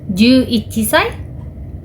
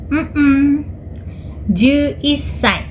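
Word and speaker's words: じゅういっさい: Berarti usia 11 tahun dalam bahasa Jepang adalah juichisai? Juissai.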